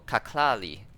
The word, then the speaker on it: kaklali: And so far the available units we have is what we call distance of light, or kaklali. Kaklali. So in this case, pronunciation inspired by Kashi, Klari, Lira.